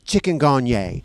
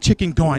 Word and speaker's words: chikungunya: First of all, it's pronounced chikungunya, and it means It's not chikungunya.